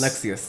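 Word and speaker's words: Lexaeus: How do you pronounce that? Lexius? Lexius, yes.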